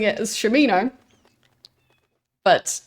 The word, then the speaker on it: Shamino: been pronouncing it as Shamino, but they really emphasize the sham.